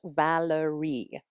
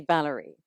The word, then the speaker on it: Valeree: Lavin who is the director of the short Valerie did I say it right or should it just be Valerie it's it's that it can be either I'll